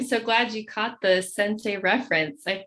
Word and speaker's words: Centsei: are the founders of sensei finance a budget training program and that's sensei pronounced like mr miyagi's bow to your sensei but spelled like sense